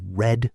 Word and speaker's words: read: Notice that red is spelled the same, but we pronounce it like the color red. Yesterday, I read the news.